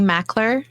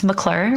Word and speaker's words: Mackler: cool so it's really it's really mackler i mean i don't say it's mcclure but if you pronounce it that way people will spell it m c so i'm like